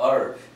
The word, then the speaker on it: herb: 이게 우리나라식으로는 허브 하지만 영어로는 뭐라고 발음해요? H 묵음이죠. herb죠. herb.